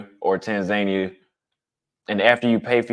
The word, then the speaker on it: Tanzania: been there Rockstar Joe Tanzania is pronounced Tanzania go ask somebody from Tanzania they won't say Tanzania Americans say Tanzania Tanzania say Tanzania trust me Jesse said